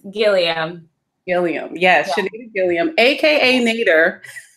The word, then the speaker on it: Guillemaira: her with us she may the please pronounce your last name because I do not want to say it wrong it's Gilliam Gilliam yes Gilliam aka nadir oka nadir who